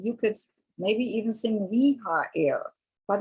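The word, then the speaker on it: Rehael: So in an American, you would sound it differently, but the sound for Reha-el is that, like rehabilitation, same thing.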